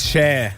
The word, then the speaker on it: Cher: once your mic goes live, I do want to ask you, how do you pronounce the singer? Sure. It's Cher.